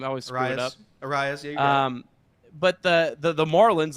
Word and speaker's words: Arraez: Arraez, yeah.